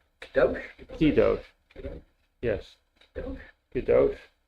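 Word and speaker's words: קדוש: Kadosh. Kadosh?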